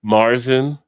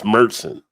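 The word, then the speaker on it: Märzen: A lot of people a lot of people will say Marsen I've even seen Head Brew say Marsen it's not it's meren just teaching it's not like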